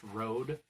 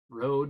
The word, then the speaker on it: Røde: slash through it so I think it is actually pronounced Road which is but not